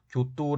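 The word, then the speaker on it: 京都: 12 세기 라고 하는데 현재 경도 일본어 발음으로 교 또 라고 하는 지역의 일본의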